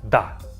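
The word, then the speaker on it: да: The next word is da da. And it means yes. When you agree with someone, da. And again, this first letter here is duh. It looks like a house, but it's pronounced as duh.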